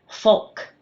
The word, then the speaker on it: folk: "Folk" lk we don't hear that l again.